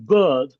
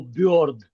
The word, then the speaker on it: bird: sound and they go instead of saying bird a bird, they go b-o-r-d. b- o-r-d bird bird